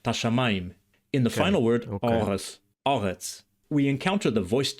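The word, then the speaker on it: ארץ: And the final consonant tsadi is pronounced in Biblical Hebrew like an emphatic s, meaning that it's pharyngealized.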